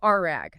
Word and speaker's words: RAG: And to do this, Humel leverages a technology called retrieval augmented generation or RE pronounced exactly like a piece of cloth. Okay, so RAG.